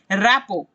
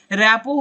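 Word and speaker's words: rapport: रैपो, इसमें T silent है। रैपो होता है दो लोगों के बीच का आपसी संबंध कैसा है।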